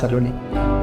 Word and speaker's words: Saloni: Love for me is what starts with S, ends with I, and it is pronounced as Saloni.